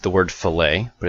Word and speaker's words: fillet: So a fillet looks like the word fillet, but it's pronounced fillet.